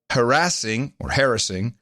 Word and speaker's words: harassing: these before, obscene, lewd, lascivious, filthy, excessively violent, harassing, or otherwise objectionable. And what is taking place, I think... Harassing is the right pronunciation.